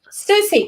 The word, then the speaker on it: Siouxsie: "Red Light" by Siouxsie and the Banshees from 1980. Susie.